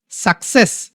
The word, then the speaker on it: success: প্রথমে এই সি এর উচ্চারণ হচ্ছে ক, তারপর হচ্ছে স। ওকে, অ্যাকসেপ্ট। সাকসেস, SUCCESS।